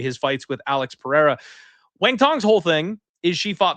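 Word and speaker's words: Wang Cong: And I know it's spelled Kong Wang for those of us who are white, but it's pronounced Wang Tong, apparently.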